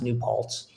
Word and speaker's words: New Paltz: And I think the SOS triathlon, and it's pronounced New Paltz, is multiple disciplines.